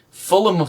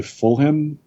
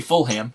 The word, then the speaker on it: Fulham: i i would say fulham fulham i know it probably is not pronounced anything like that i think it is full but yep fulham no you don't say full ham you say fully oh i would say